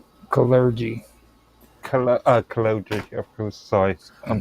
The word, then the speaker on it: Kalergi: Uh, what is um, how do you pronounce his the second part of that surname? Callergy.